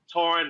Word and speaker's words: Torn: But my name is pronounced Torn like foreign. That's the best way to remember it. It's like foreign. Torn like a war tour.